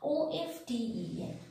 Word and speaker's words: often: O-F-T-E-N, often, right?